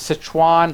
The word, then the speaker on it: Sichuan: hesitate to correct me I believe is Sichuan like Citroen Basset Hwan was found